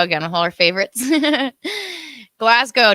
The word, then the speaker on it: Glasgow: Glasgow, don't pronounce the W.